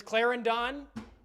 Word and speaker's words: Clarendon: But if it's Clarendon, we'll call it Clarendon. Don't emphasize the O on Don.